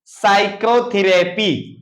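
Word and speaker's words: psychotherapy: इसको हम पढ़ेंगे क्या साइकोलॉजी देखेंगे साइकोलॉजी पी साइलेंट हो गया इसको क्या पढ़ेंगे साइकोथेरेपी साइकोथेरेपी साइकोथेरेपी अब देखेंगे 10 ऑफ टी एच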